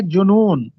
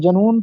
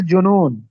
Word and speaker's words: جنون: زوال کی علامت ہے۔ درست تلفظ ہوتا ہے جنون، اکثر ہم اس کو جنون پڑھتے ہیں، بولتے ہیں، تو درست تلفظ ہے جنون۔ اس کے بعد معروضی